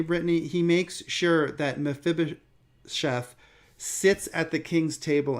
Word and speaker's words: Mephibosheth: a grandson of saul named meshebeth who mephibosheth i'm sorry i sometimes mispronounce it who has broken legs